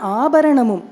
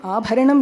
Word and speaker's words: Abaranamum: So Navaratna Abaranamum. So I'm not saying Abharanam here, because in Tamil sometimes the hard syllables get softer in the entire song.